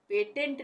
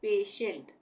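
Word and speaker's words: patient: तो यहां पे भी जब टी के बाद आई ई आए तब भी टी का उच्चारण श होगा जैसे ये है पेशेंट इसको हम क्या पढ़ेंगे पेशेंट पी ए टी के बाद क्या आ रहा है आई ई तो यहां पे भी श का उच्चारण होगा पेशेंट पेटेंट नहीं बोलेंगे पेशेंट उसी तरह से ये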